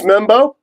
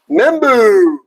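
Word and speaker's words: Membou: Is this Mebo? York. Yep. Membu I've been saying Mebo. It's Membu.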